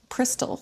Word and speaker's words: Przystal: It's Przystal. Yeah, Przystal. It's like almost like crystal. Right. Yeah, it's almost like crystal, Yes. like with a P, like except for a P.